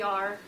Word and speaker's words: Ahr: I love what I do, and as Mike said, my name is R. That's not an abbreviation. You spell it AHR.